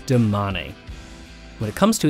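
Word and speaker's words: Domane: look at their endurance bike is it a domain or a demane for the record it's damanei when it comes to its all-round race bike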